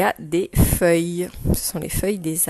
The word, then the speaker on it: feuille: ES, et le mot feuille. Alors, feuille, j'entends le son F. Et ensuite, il y a le son œil. Celui-là, il est un peu compliqué, on l'a jamais vu. Il s'écrit E-U-I-L.